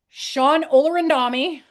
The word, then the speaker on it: Shawn Olorundami: But yeah, so Shawn Olorundami, did I say it right again?